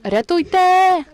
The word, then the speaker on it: рятуйте: it with the word "рятуйте," and you need to make the emphasis on the final "e." Make sure you pronounce it really fast and emphasize "e" at the end.